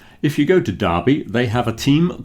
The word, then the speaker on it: Derby: That is the history of why big sporting events are called derbies, pronounced Derby to rhyme with Barbie.